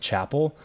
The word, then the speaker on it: Chappell: you know no that's actually it's pronounced Chapel yours is Chad yeah okay a lot more